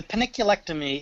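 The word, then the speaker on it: panniculectomy: How do you say paniculectomy? That's exactly how you said it.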